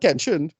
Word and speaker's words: Kenshi: It's Kenshin, right? I'm pronouncing that character, right? Well, Kenshin, yeah. Yeah, right. And that's about it. No, sorry. It's Kenshi. Sorry.